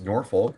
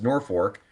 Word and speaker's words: Norfolk: It looks like it should be pronounced Norfolk, but it is pronounced Norfolk.